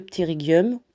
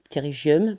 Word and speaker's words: pterygium: du tout comme ça que le ptergium pgium prononcez-le comme vous voulez c'est une pathologie et